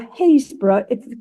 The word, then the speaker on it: Happisburgh: And then we have Happisburgh or Haysborough. How you spell it and how you pronounce it, it sort of depends on what part of the country you live in.